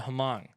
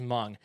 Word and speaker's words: Hmong: mountain society called the humong might be slaughtering the pronunciation of that about 35 000 humong are now hmong i feel like i know that i think it's just hmong are now living in